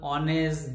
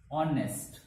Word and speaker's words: honest: now again see our honest these spelling begins with h but h is silent okay so nine number is honest honest with starting with the